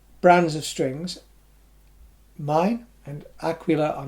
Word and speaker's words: Aquila: the top selling brand, excellent strings, Aquila, or Aquila as it should be pronounced. Not Aquila. Never, ever, ever, ever pronounced Aquila. It's an Italian name, and it's Aquila.